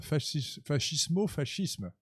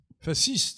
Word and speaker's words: fascisme: La gauche antifasciste prononce à l'italienne fascisme. Et quand on n'est pas de gauche, on doit dire, à mon humble avis, fasciste.